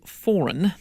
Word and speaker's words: Foran: Let me pronounce it correctly. Greg. Yes, Greg Ferns. Greg Foran, the airline's chief, welcomed guests to the party, some 3 years after the lengthy route was first announced.